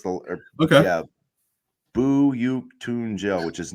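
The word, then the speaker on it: Büyüktuncel: I thought it's buuk Tel that's how you pronounce the okay yeah buuk tunel which is not how it looks at all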